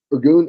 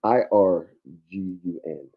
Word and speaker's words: Irgun: Is that how No, that's spelled? Irgun is going to be IRGUN.